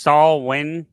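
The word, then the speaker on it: Samhain: Apparently, it's pronounced Saul Win, according to Jess.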